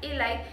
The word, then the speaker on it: Eli: se llama Eli, o Eli, pero bueno, se pronuncia Eli, en Netflix.